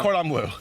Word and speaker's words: Cordon Bleu: Can you pronounce it? The school? Yeah. Cordon Bleu.